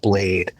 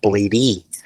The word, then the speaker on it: Bladee: What was his awareness level on Bladee? It was really just like, I was like, oh wait, do you know the pronunciation is not Bladee with the double E's?